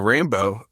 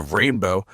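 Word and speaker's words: Reignbeaux: Also, that movie doesn't have Bill Hicks in the Rainbow, that's spelled r e i g n b e a u x, the Rainbow, singing in a steakhouse throughout the movie.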